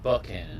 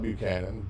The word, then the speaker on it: Buckhannon: um Christiana Buckhannon States Buckhannon or Buchanan how do you say it Buckhannon Buckhannon there was a t in there like it or not but you can call it Buchanan Buckhannon whichever as long as you're